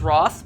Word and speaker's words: wrath: wrath upon the world never heard someone pronounce ras as roth but you do you and who is this